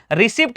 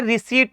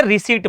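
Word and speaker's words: receipt: रिसीप्ट पढ़ते हैं। उनको यह रूल नहीं पता कि सर क्या हो जाता है? यहां देखो सर। अगर टी से पहले पी आ गया तो पी फिर से साइलेंट हो जाएगा। पी फिर से क्या हो जाएगा? साइलेंट। तो इसको क्या बोलते हैं? रिसीट बोलते हैं। ठीक है? पी की साउंड नहीं होती। पी साइलेंट है।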